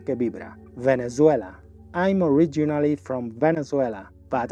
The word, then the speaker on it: Venezuela: durante Venezuela en inglés esa Z se pronuncia como una s que vibra Venezuela la v vibra y la z también la Z en inglés se pronuncia como una s que vibra Venezuela I'm originally from Venezuela